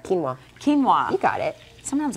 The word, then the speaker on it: quinoa: Quinoa. Quinoa. You got it. Sometimes I just mix up the letters, Joe. Quinoa, quinoa. Keen. Like you have a keen eyesight.